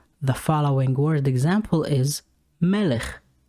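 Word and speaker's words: מלך: word example is melech the word melech ends with the letter kaf but this time the letter kaph has no dagish therefore it makes the gutler sound of the syllable ch melech means a king letter number 12 lamed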